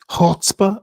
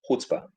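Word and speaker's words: chutzpah: there vagod but say it again Hotzbah. Hotzbah. Hutzbah. Does that sound better?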